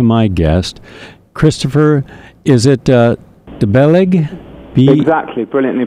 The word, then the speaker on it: Bellaigue: Is it Belaig? Exactly, brilliantly pronounced.